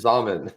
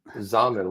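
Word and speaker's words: Xaman: I know it rhymes with ramen. It was Zamen. It was Zambo. I was gonna say Xanadu, but it wasn't Xanadu either. It was Zambo. Zamen. Zamen rhymes with ramen.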